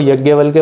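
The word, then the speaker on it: याज्ञवल्क्य: जो यजनवल्क्य या यज्ञवल्क्य कुछ लोग इसको यज्ञवल्क्य बोलते हैं बट जो इसकी स्पेलिंग है उसके अकॉर्डिंग मैं इसको यजनवल्क्य बोल रहा हूं इसकी दो इंटरप्रिटेशन है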